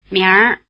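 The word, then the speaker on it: 明儿: R is added, but leaves a nasal quality in the vowel. And also the vowel sound sneaks in. 明明儿 We won't go further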